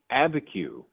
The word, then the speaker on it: Abiquiu: Hey, I want to make sure, by the way, if I get this right, Brother Bryant, is it Abiquiu? How do you say it? It is Abiquiu, actually.